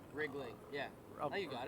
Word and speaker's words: Riegling: Yeah, Riegling. did I say it right? Riegling.